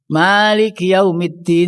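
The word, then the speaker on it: مَالِكِ يَوْمِ الدِّينِ: Lah yang baca Maliki yaumid juga boleh dibaca panjang karena ini ada alifnya. Maliki yaumiddin itu Imam Hafiz, Imam Syu'bah, riwayat Hafiz dari Imam Asim membacanya panjang.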